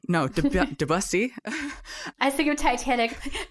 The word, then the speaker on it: Debussy: Yes, it's definitely not Debussy, because that makes me think of Gary Busey, and that's not the same thing.